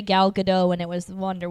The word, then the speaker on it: Gal Gadot: know she's she's wonderful I think it's good not no it's definitely gal gadot yeah don't get me no t in there all right I've always heard people say gal gadot and it was the